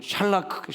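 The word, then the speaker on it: שָׁלַךְ: 크할 때 크하고 끄는 발음 크 하면서 꼭이 크음을 할 때는요. 독일어나 그 히브리어에 있는이 말씀은 뭐냐면에에 이걸 뇌를 꼭 진동을 해야지 됩니다.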